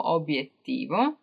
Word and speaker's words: obiettivo: And also obiettivo, even though when you're pronouncing it, it seems like it has double B, it doesn't. Obiettivo. So yeah, those three were just extra.